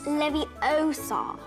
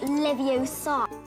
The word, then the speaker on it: Leviosa: It's Leviosa, not Leviosa.